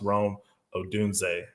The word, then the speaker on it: Rome Odunze: the Washington Huskies receiver his name is pronounced Rome odunze yes apologize this family's